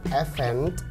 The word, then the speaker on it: event: Nah kalau misalkan katanya event pakai T di belakang itu acara, dan teman-teman ketika bunyi ini atau lafalinnya harus event. Oke, stressingnya di syllable atau suku kata yang kedua, event.